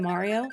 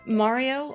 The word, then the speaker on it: Mario: Mario or, Mario? Because I've known people, like, that pronounce it Mario, like their name.